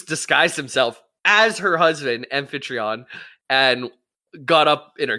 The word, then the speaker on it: Amphitryon: Transformer I'm G toon amphitryon is how I would say it or aiton amphitryon yeah exactly amphitryon uh he was away so uh Zeus disguised himself as her husband amphitryon and got up in